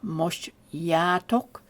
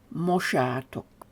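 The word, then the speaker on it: mossátok: Now notice with mosh, instead of having a J, we have an S. So it's not moshyatok, it's moshatok.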